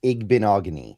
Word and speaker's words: Igbinoghene: Demaya's job or the Igbinoghene. The guy I That's going to take me a while to master that name, Brandon. But it's going to be, you know, It's like mahogany. It's Igbinoghene. I've I've kind of learned